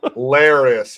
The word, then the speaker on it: Larys: Larys Larys is how you say the name.